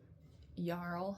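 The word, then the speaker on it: Jarl: She is being set up to marry the YL, I believe has he's called. Um, it's spelled J A R L.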